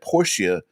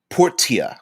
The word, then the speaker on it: Portia: man mentions the video game my time at porsche portia sorry yeah rit you because he knew i was going to pronounce it uh you know me too well